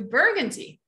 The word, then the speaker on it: Burgundy: Just Bourgogne is the French pronunciation. Burgundy is the American or the English pronunciation.